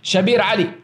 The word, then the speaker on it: Shabir Ally: want to give them the Arabic the Arabic pronunciation of him shabir Ali shabir Ali will will corrupt your Dean 98